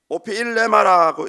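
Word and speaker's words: ὀφείλημα: 이 원문에서는 오피일레마라고 읽습니다.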